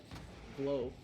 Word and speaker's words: Vlo: Vlo, pronounced Vlo, like the word flow, coming off the wall.